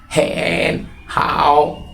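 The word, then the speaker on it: 很好: আমি ভালো আছি এর চাইনিজ হচ্ছে হ্যান হাউ উচ্চারণ করবো কিভাবে হেন হাউ হেন হাউ মানে খুব ভালো এখন দ্বিতীয় বন্ধুকে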